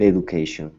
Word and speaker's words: education: has had a great education okay now here instead of saying Ed education it's Edge edu education education okay good good